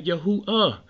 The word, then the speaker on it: Yahuwah: Now, if he can pronounce Yehudah, you take the Dalet off, you got Yahuwah.